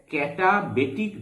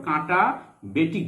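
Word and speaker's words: katabatic: এই বায়ুকে নিম্ন ঢাল বায়ু বা ইংরেজিতে ক্যাটাবেটিক বায়ু বলে। কি বলে ইংরেজিতে? ক্যাটা বা কাঁটা, তোমরা উচ্চারণ করতে পারো কাঁটা বেটিক বায়ু।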